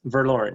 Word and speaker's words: Verloren: are the founder of is it ver lauren productions yes verloren yeah it's um german for lost um that started a